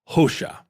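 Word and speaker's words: Hoxha: Marlin was it Randy his name was en HOSA HOSA and in in Albania the the letter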